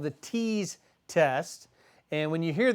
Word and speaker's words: TEAS: process you just mentioned a test called the tease test and when you hear that word it